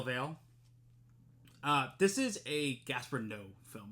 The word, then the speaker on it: Noé: This is a Gaspar Noé film. No, I think is how you pronounce his last name, N-O-E.